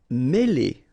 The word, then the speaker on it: mêler: Mêler. Okay, remember, accent circumflex here on the top of E, and it will give you the sound E, really opened, okay?